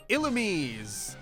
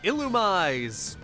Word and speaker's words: Illumise: Illumise Illumize Illumize I've heard it pronounced all three ways, and I'm not going to pretend I care which one is right.